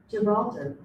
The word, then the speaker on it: Gibraltar: GIBRA alter. I want to do the correct pronunciation. Gibraltar.